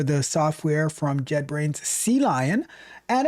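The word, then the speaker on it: CLion: Sea lion. Like it's the letter C and then the word lion. But there's also the the aquatic animal called a sea lion.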